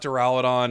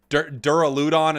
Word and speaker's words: Duraludon: uh hilarious it's not it's not deralidon it's or duraludon at some point someone's a